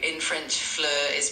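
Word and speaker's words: fleur: In French, flur is pronounced somewhat like flur with a a soft meth sound and a a rounded e sound in the middle.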